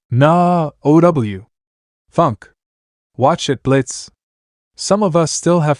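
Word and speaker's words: Blitzø: Wait, Blitz. Wasn't that the red thing earlier? Yang asked. The one whose name is spelled with an O, but kept silent.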